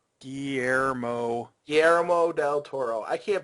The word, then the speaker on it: Guillermo del Toro: yeah, it's Guillermo Guillermo Guillermo del Toro. Guillermo. Guillermo del Toro. I can't pronounce anything.